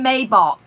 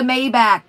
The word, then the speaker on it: Maybach: loopy welcome bella welcome she's like i'm gonna get a may ball i'm like it's a maybach they're sugar tits and do you know how much a maybach is because i do